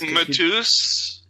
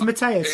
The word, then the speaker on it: Matthias: It's Matthias. And Matthias. All right. Yeah, you basically just mispronounced it, but you got the right name.